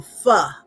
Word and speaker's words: pho: And that's going to be it for now, until I eat some pho or pho, however you choose to pronounce it. It's pho, but go ahead.